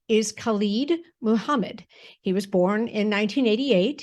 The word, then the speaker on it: Khallid Muhammad: Khallid Muhammad, also known as Kent Jamz.